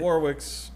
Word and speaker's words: Warwick: Warwick's feelings. We've Yeah. got your Or feelings. Warwick. Yeah. Okay. Why do you keep saying Warwick? What? Warwick. Your name's not Warwick.